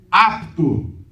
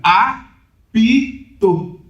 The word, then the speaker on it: apto: Apto. Geralmente fica a em vez de apto, duas sílabas, fica apito, apto.